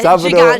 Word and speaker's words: Sábado Gigante: Yeah, Sábado Gigante.